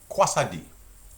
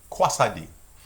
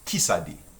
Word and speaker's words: Quoi ça dit: Quoi ça dit? Try that. Quoi ça dit? And in certain regions, like in where I'm from, it's pronounced qui ça dit. Qui ça dit or quoi ça dit.